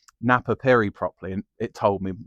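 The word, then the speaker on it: Napapijri: sellers of like vintage, and they still say Napa Pidgery. But you can sling it into Google, can't you? And I slung it into Google how to pronounce Napa Piri properly, and it told me how I'm pronouncing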